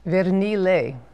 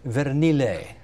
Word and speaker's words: Vernile: And what's the Italian pronunciation on the last name? Vernile. So I should have said Vernile.